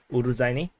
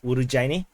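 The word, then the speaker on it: Urozhaine: fire damage on Ukrainian uruzani uh or someone in the comments said is supposed to be pronounced as urugu uh because uh z h is supposed to be a j so urujaini and um so the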